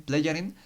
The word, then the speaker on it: Plejaren: Y según él, esto porque es la evidencia que ellos, estos Plejaren o Plejaden, lo pronuncia bien, Plejaren, son las evidencias que